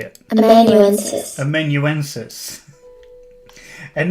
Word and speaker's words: amanuensis: I don't even think I'm pronouncing that properly. Let's see. How do you spell that? Amanuensis. A literary or artistic assistant. Let's see. Amanuensis. Amanuensis. So I was pronouncing it incorrectly.